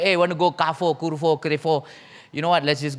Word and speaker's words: Carrefour: Yes, Carrefour, no more already, right? But she still, no, actually, you know what? I'm wrong. It's supposed to be the French pronunciation, which is Carrefour, right?